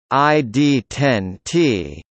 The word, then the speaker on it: ID10T: ID10T, pronounced ID10T, is a code frequently used by a customer